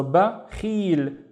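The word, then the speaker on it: بخيل: Now, let's read the first syllable on its own. It's simply ba, ba. And then the second syllable is, again, we have Khalid surfing. With a kasra, it becomes khi, khi. So, khil, khil. We have the il in here with no vowels. So, ba, khil, bakhil.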